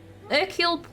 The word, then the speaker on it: Hercule: If you want to sound particularly fancy, you don't say the H in Hercule. Hercule Poirot.